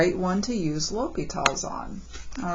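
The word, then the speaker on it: L'Hôpital: this spelling of his name okay it is pronounced l'hopital regardless of how you spell it it's pronounced l'hopital all right but this is the way I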